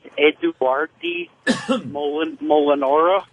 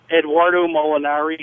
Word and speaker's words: Eduardo Molinari: Opie, your pronunciation of Mike Perico and Eduardi Molinara or Marinara, what did you say? I don't know. What your point, John? It's Eduardo Molinari and Mike Perico.